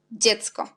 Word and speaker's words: dziecko: Et DZI, on prononce aussi di. Par exemple, dźwięk, dziecko. La prononciation est même.